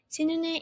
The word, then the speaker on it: synonym: And then we have three syllables here, synonym. And then you need to put the stress on the first one. And then it's gonna be with the it sound, right?